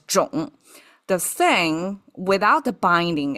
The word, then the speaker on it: 冢: Okay, so that's the association and the whole thing pronounced as "joong".